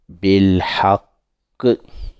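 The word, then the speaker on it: بالحق: On s'appuie sur la lettre Q à la fin. Q à la fin. Q à la fin. On dit bilhaqqi. Bilhaqqi. Toujours la lettre Ha sort dans la gorge.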